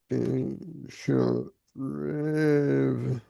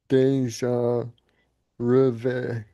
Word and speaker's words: déjà rêve: Um, déjà rêve, pronunciation, déjà rêve, rêve, Deja rêve.